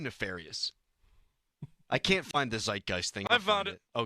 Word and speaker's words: zeitgeist: Is that the correct pronunciation of that word? What? Bob? I think so. What? No, that's not the best. That's a good use of the word. Zeitgeist. Zeitgeist? Yeah. Zeitgeist.